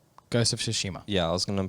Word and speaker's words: Tsushima: thank you for that were you gonna say sashima i was gonna start with a tea and just hope for the best yes tsushima or something um so